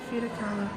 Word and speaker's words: Frida Kahlo: Frida Kahlo.